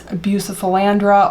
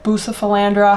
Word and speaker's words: Bucephalandra: And funny story about Buce, or if you want to call it Buce, full name is bucephalandra or bucephalandra, however you want to pronounce it.